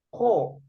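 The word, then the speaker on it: 코: Nih nih nih ni Huruf konsonannya KH huruf vokalnya o maka akan membentuk kata atau suku kata yang bisa dibaca ko artinya hidung hidung betul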